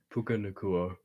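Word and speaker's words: Puka Nacua: Puka Nakua, is that how you say his name?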